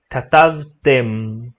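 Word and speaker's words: כתבתם: Então, quando a gente precisa pronunciar a letra mem no final, a gente sempre precisa fechar a boca para pronunciar esse som. Então, katavtem ou lemadtem, sempre fechando a boca.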